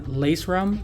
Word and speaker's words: lacerum: Now, I like to call this one foramen lacerum because that's exactly how it's spelled. Lace, like shoelaces, and then rum.